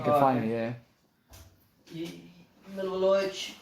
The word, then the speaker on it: Milivojevic: Milivojevic. How do you say it? I say just like you say it, just like that, yeah.